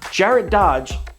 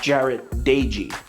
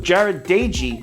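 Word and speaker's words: Jarrett Doege: just said jared dodge his brother actually came out and said the pernic correct pronunciation is jared dagy sorry about that so jared daigy slings the ball around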